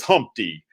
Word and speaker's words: Humpty: let me introduce myself my name is humpty pronounced with the umpty yo ladies yo how